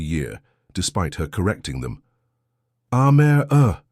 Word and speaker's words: Amara: Aare, she'd say, like camera with an A.